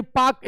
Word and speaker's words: Palk: पाक स्टेट, पाक स्टेट में PALK, this is not Pakistan state, पाक एल साइलेंट होता है। कैसे जो है जो टॉक पाउडर PLC होता है, इसी तरह ये पाक स्टेट, पाक स्टेट तमिलनाडु